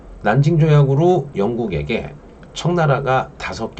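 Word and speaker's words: 南京: 샹하이 있어요 존망 가면 난징 이라 그러고 여러분 동네에 남경 중복도 있자 요 남쪽의 수도 남경을 중국어로 난징 이라고 읽어요 그래서 자 난징 조약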